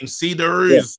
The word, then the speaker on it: Cederroos: Even though Aline Cederroos isn't necessarily like that's how you say her name, Cederroos.